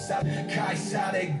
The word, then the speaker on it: 카이사르: 여전히 이곳 카이사르의 것은 카이사르로. Oh, Caesar. Il l'a prononcé en latin.